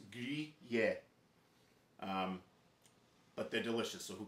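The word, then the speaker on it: Gruyère: You can say it like California, like we had some Gruyere. Like Americans say Gruyere. If you want to say it right, it's Gruyere.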